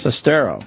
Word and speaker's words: Sestero: Sestero. Is that how you say it? What? Sestero? Sestero. Sestero. Sestero. You almost yeah, said it right with the accents in the wrong spots. Greg. Pretty much it. Sestero.